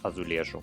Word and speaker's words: azulejo: Арабы принесли глазурованный кафель в Испанию, где он стал называться асулехас, и Португалию, где то же самое слово начали произносить азулежу.